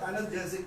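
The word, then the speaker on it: analgesic: सर जैसे एनाल्जेसिक शब्द में देते हैं, नहीं एनाल्जेसिक तो श्वेता मातरी जो एनाल्जेसिक होती है वो, इसका जो प्रोनाउंसिएशन का वो एनाल्जेसिक होता है।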